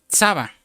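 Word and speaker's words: צבא: Lo interesante, hermano, que esta palabra ejércitos viene de una palabra hebrea, que se pronuncia Tsaba.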